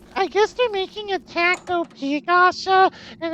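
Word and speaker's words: takt op.: It's Tacto. I guess they're making a Tacto P gacha, and it's Actually- those are after musical pieces, and I will admit it has me interested.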